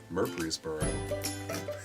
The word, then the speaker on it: Murfreesboro: Murfreesboro. How do you pronounce it?